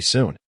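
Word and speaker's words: 埙: Note, sun is pronounced with a first tone.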